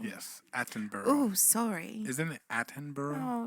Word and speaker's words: Attenborough: prey as it comes through the brush david atterborough yes attenborough oh sorry isn't it attenborough oh yeah you